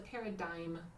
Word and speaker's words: paradigm: Because we've got some silent letters, but it's a paradigm. Yeah, so this last bit here is dime pronounced.